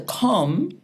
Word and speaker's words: Kom: Yes, because in our spelling system, you see the k sound, that's always K, never C.